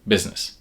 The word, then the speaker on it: business: While the U is pronounced like I, the I in the middle, which we might expect to be an I, doesn't make any sound at all. That makes the pronunciation of this word business.